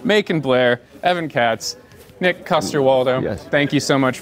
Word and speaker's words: Coster-Waldau: Macon, Blair, Evan Katz, Nick Coster-Waldau. Yes. Thank you so much for being here. Thanks Did for I pronounce having that us. right, Coster-Waldau?